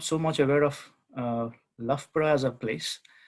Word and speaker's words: Loughborough: so much aware of lafpra as a place it's more or less at the center of the country and it's not too far from london um and lafra is how you pronounce it i think that's where